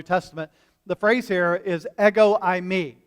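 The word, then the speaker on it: ἐγώ: mean eggo i me it's not like what you put in the toaster oven this morning that was a frozen waffle like lego my eggo not that kind but same pronunciation eggo so a lot of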